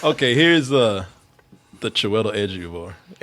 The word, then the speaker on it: Ejiofor: This is a Chiwetel Ejiofor's version of that, and I listened to it yesterday.